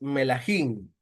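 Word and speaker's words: מלכים: Bueno, dijimos que el hebreo es melahim, o sea, así se pronuncia reyes en hebreo, melahim.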